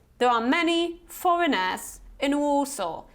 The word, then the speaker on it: Warsaw: are many foreigners in Warsaw so don't say foreigners and worso say foreigners and Warsaw okay another one number five